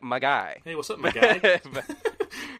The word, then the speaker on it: Magi: quest for christmas and it's spelt m-a-g-i not j-i or j-y or g-y or any other way you say that word just like mag um yeah it's like my guy hey what's up my